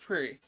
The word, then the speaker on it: Prix: I said Grand Prix. It's pronounced Prix.